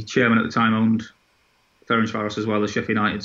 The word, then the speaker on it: Ferencváros: Ferencváros. There you go. That's perfect pronunciation.